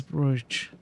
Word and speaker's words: brooch: She wanted to see me Ma's brooch. What was the correct pronunciation?